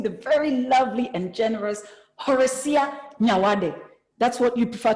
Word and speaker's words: Horesia: I don't even know how many other names you have, but my name is Horesia. The H is silent.